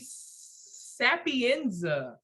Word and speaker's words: Sapienza: speak your truth we are here with sapienza yes look at me yo i was scared